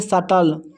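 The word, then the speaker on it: subtle: यहां पर ब नहीं होगा। इसको पढ़ेंगे सटल थ्रेस थ्रेस पिटाई करना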